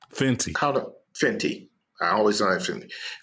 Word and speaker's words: Fenty: Fenty.